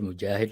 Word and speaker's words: Moghid: pronounced it pretty well. So when you said Mujahid, like it sounds like an Arabic person speaking. So that was solid.